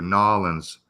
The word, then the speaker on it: New Orleans: I pronounce it the way the Cajuns do, Nolans. That's how I pronounce it, Nolans.